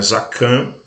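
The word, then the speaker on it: זקן: entender a pronúncia né no hebraico a pronúncia da palavra barba que é zacan muito conhecida hoje pelos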